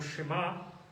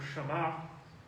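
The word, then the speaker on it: שמע: Bueno, hay una palabra hebrea que es la palabra, se puede pronunciar como Shema, o se puede pronunciar como Shama. De las dos maneras la he escuchado pronunciar.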